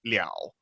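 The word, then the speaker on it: 了: The alternate pronunciation of le, which is liao, which means like to finish up something.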